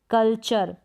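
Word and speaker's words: culture: जैसे कि यहां पर देख सकते हैं क्या है? कल्चर। यहां पर अर करके प्रोनाउंस कर रहे हैं यू को। यह यू आर ई का कॉम्बिनेशन हो जाता है। कल्चर आर का साउंड भी आ रहा है और इ तो यहां पर साइलेंट है।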